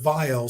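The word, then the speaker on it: Vyle: so I came up with vile spelled with a y v-y-l-e and like a mile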